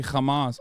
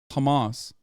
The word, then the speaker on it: Hamas: to know you're mispronouncing Hamas in a very particular way that Israeli officials mispronounce it. It's not a ch sound. I didn't say Hamas. I said Hamas. Hamas.